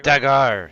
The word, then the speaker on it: Dagar: So everyone but the Tabaxi, Dagar, right? Is that how you say it? Dagar? Dagar, yeah. It's Dagar. French.